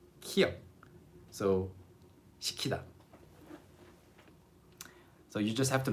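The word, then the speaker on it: 식히다: This means to cool down something. 시키다. The same pronunciation. You cannot tell the difference just by hearing these two words. 시키다, 시키다, 시키다, 시키다. Exactly the same.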